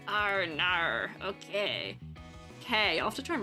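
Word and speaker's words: Kei: in my brain that's making me think, yeah, K E I. It's K because Sukishima K from Hiq and that's how his name is spelled and that's how it's pronounced. Ar. Okay. K.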